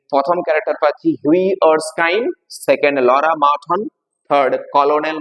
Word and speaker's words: Erskine: ERSKINE উচ্চারণ কি? আর্সকাইন।